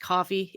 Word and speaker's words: Ko-fi: cookie oh it's um maybe it's pronounced coffee it's ko dash fi it's like uh a